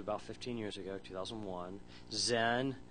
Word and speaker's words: Xen: The biggest ones that I know are VMware, which is about 15 years ago, 2001, Xen. It's pronounced like it's a Z, but they spell it with an X for some reason.